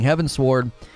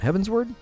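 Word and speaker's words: Heavensward: with four people including heaven sword and are heaven's word heaven's word heaven sword heaven's word heaven's word right how do you say that heaven's word like upward yeah i got it heaven's word and they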